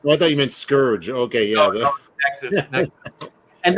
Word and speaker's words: Scourge: We do have Nexus Scourge, or how do you say it, Kelsey? Scourge. Like a pirate, and the great Mike Barron and Kelsey Shannon on art, and the book looks fantastic.